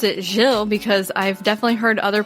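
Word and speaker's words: Gilles: saying raise and that's wrong at least you pronounced it jill because i've definitely heard other podcasts i heard somebody else talk about him before and they called him giles oh or guiles and it's neither i probably would have done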